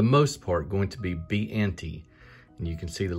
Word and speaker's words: Biante: you want some trivia is b and t if and if you sound that out phonetically that is the name or initials of the people who created it up next we got